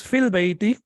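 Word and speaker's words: في البيت: But when you connect it with al, then ya is not pronounced.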